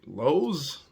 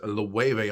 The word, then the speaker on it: Loewe: the wave okay now when i first seen it i was like lowe's louis louie so that's when you got to go on research how to pronounce it and it is the wave almost like the number nine